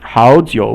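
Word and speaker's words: 好久: 好 is 三声, or the third tone, and 好久, those are both third tone. This is kind of a rule, like if you say two third tone characters, then the first third tone will become a second tone.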